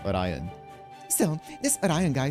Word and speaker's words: Orion: Still, this Orion, you know, I I realized it's pronounced Orion. I've been pronouncing it the way that they pronounce it in anime, which is Orion in Japanese, but it's Orion.